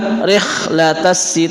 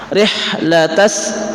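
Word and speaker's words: رحلة: itu adalah zhar syafawi kita membacanya dengan jelas bukan rlat tapi di sini huruf ha rihlat rlat bukan rlatas tapi rihlatas tapi yang benar adalah rihlat dan kita menemukan as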